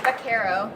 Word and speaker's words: Baquero: Did I pronounce that correctly? Baquero.